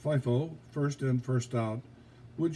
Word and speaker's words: FIFO: Under the more common inflationary scenario, FIFO, pronounced FIFO, first in, first out, would show a lower cost of goods sold than a LIFO, last in, first out system.